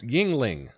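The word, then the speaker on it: Yuengling: you out perhaps um yeah it's pronounced Yingling okay that's that's right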